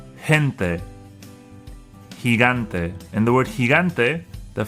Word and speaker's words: gigante: The second G is the G sound, the G sound, because it's before an A. Gigante.